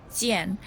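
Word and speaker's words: 健: chinese couplet paper the first chinese character is pronounced jian in mandarin chinese and now the second word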